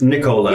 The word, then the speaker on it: Nicola's: like one of our favorite downtown Italian eateries is I always mispronounce it. Nicola's. Is that correct? Yeah. Nicola's, I always yeah. make it a knee. It's Nicola's. Yes, Nicola's.